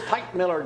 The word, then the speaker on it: Teichmiller: Typewriter, popsicle, Teichmiller.